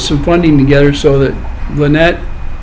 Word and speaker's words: Lynette: And they went out there and they put some funding together so that Lynette, and I said it right, Lynette, okay, not Lynette, Lynette.